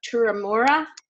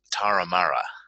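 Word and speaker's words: Toormina: is a member of the Rotary Club of two Remora in New South Wales and Evan you can correct the pronunciation of that if I got that wrong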